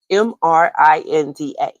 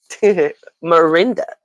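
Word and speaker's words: M'Rinda: Mrinda. Marinda. There's actually apostrophe if you want to say it right.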